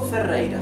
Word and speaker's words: Ferreira: This R in Ferreira, in my last name, is doubled. Therefore it is pronounced R, rei, R. This last R is not doubled and is in the middle of the word. Therefore it is pronounced R, right?